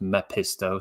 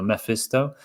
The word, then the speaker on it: Mephisto: It won't be pronounced Mepisto, so Mephisto.